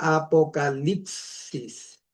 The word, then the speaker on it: apocalipsis: Y esta letra acá hay dos versiones para pronunciarlos. como i o como u. En nuestro caso vamos a pronunciarlo como i. ¿Ya? Entonces, ¿cómo cómo sonaría esto? Lips. Y esto es la letra ah si la yota y la sigma. ¿Se acuerdan que en geometría dicen el ángulo sigma? Ahí está la famosa sigma. Entonces, eso se pronuncia apocalipsis.